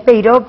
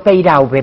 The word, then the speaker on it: Peyraube: En realidad es Peiró, pero ¿Peiró? mi padre, sí, pero Peiraube, porque no todo el mundo tiene por qué saber francés.